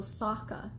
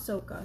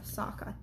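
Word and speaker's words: Sokka: a in the series it's also Saka in the series not SOA Saka Avatar not Avatar iro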